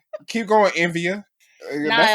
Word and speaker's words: Nvidia: What? Nvidia. Nvidia. That's what it. That's how you say it. Yeah. What Nvidia. you said? I said Nivea.